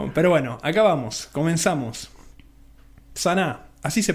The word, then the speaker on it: Sanaa: Sana, así se pronuncia, ¿no?